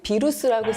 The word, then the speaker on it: 비루스: 하지만 이제 바이러스를 대신 비루스라고 쓰고 발음하는데요. 예. 우리는 영어 발음을, 북한은 라틴어 발음을 사용하고 그러니까 있는 거예요.